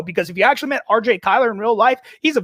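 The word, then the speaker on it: RJ Cyler: quick side note uh you pronounced his name correctly it is RJ Kyler look it up don't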